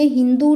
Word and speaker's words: हिंदू: जब प्रशियंस आते हैं वह सिंधू को हिंदू प्रोनाउंस करते हैं क्यों क्योंकि वह एस को एच प्रोनाउंस करते हैं तो अभी भी